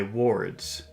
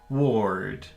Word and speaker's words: ward: is uh word but to pronounce number two you have to make that sound ER but you also have to make a wo sound so this is woer number two is woer Ward Ward that's number two